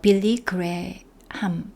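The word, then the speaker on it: Billy Graham: 얘기를 하고 계시죠네 이와서 빌리 그램입니다 우리는 빌리그래함 이렇게네 발음하죠 리을 만났던 경험을 말씀하십니다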